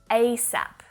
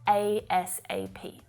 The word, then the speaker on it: ASAP: and when it's spoken you may actually hear the word being pronounced phonetically asap asap can you call me back asap or you'll also hear each letter being spoken individually asap can you call me back asap both options are fine right have you heard